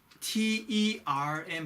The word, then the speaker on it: term: 그다음 여러분 TERM 하면요. term 이렇게 되는데 term. 그죠? term이라는 말은 기간이라는 뜻이고요. terms 하면요. terms 조건이 돼요. 그러니까 R이 들어있기 때문에 그냥 term이 아니고 R 발음이 나요.